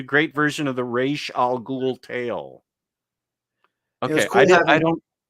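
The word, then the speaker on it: Ra's al Ghul: And I learned how to pronounce Raish Al Ghul. It wasn't Raz Al Ghul or whatever I used to think.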